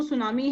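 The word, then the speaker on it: tsunami: टी सुनामी टी सुनामी इसको लिखने में बोलते हैं बोलते इसको सुनामी है टी साइलेंट होता है तो यहां पर आएगा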